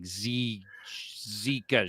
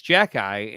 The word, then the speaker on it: Xhekaj: And of course, she said like Zikash or something, and then I said, "No, it's Xhekaj," and she goes, "Okay, you're just pronouncing his name backwards," and I'm like, "That's actually almost correct."